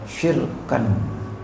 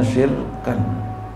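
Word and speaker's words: شِرْكًا: Nah, bikasrisin dan kasrisin dan tanwin. Jadi apa? Syirkan. Gitu. Bacanya syirkan. Ini agak saru nih, jadi ayat syarikat seperti tafsiran dikasih di sini watan ini ditandain tuh.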